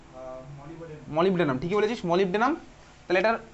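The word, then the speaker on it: molybdenum: হবে সিম্পল নাম নরমাল নাম কি হয় ভাই মলিভ ডেনাম মলিভ ডেডনাম বানান কি বলতো মলিভ ডেনাম মলিভ ডেনাম এই হচ্ছে আমার বানান বাংলায় ভাই মলি বডেনাম তুই বলিস মলি বডেনাম একচুয়ালি নয় মলিভ ডেনাম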